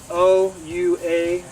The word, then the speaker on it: Ouachita: This thornless variety is from the University of Arkansas, and this one's called an Ouachita, and it's spelled O-U-A-C-H-I-T-A. It's a blackberry, Ouachita.